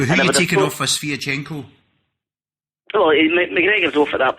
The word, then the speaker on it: Sviatchenko: Is it Shevchenko? That's my name, is it? Sviatchenko, right.